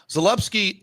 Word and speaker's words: Zalupski: So Zalupski, and I believe that's the way you pronounce it. Correct.